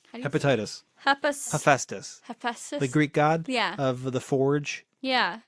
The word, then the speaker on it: Hephaestus: Followers of the god, you probably know how this is pronounced, Hephaestus? Hepatitis. Hephaestus.